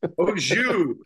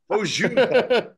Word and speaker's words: au jus: Having it's like an au juice with your roast beef sandwich. Au juice. Yeah. Don't pronounce the S. Au jus. Au jus.